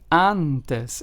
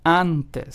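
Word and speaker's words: antes: it is pronounced as anes and not and or and right it's pronounced anes so as you can hear the letter A has that kind of full voiced mouth sound then we have the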